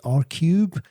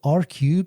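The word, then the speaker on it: ARCUBE: And this is a company, I hope I'm pronouncing it correctly, R-Cube. They have announced a funding round of $1.5 million. And R-Cube, so that's spelled A-R-C-U-B-E, declare themselves as a company focused on post-flight loyalty for airlines.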